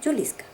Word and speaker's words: Juliska: Ya hacía unos 6 meses que se había incorporado a la misma una yugoslava cuarentona, llamada Juliska, se pronunciaba Juliska, que se encargaba, con un denuedo digno de mejor causa, de todos los quehaceres domésticos.